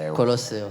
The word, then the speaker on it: Colosseum: I must correct your pronunciation as I got the chills: - Colosseum. - Colosseum.